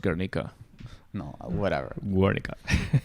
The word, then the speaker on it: Guernica: fake basically and so it's pronounced garnica no whatever god right